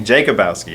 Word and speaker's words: Jakubowski: What's the proper pronunciation? We were just joking off camera about Jakubowski. Jakubowski.